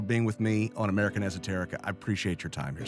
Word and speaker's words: Esoterica: The word Esoterica is pronounced with an S sound, but I've been dropping in a harder Z sound this whole time.